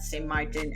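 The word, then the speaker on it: Saint Martin: it up there is no such place as St Martine and I don't know who came up with that name it is not St Martin it is just simply St Martin and if you want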